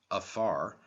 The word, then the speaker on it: fear: Africa from the Irish a fear pronounced afar a man represents the body or